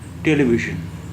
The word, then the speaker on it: ٹیلی ویژن: اب ایک لفظ جو بہت زیادہ استعمال میں ہوتا ہے، جس کا کافی لوگ غلط پروننسیشن یا غلط تلفظ یا غلط اچارن کرتے ہیں، وہ ہے ٹیلی ویژن. ٹیلی ویژن ژ.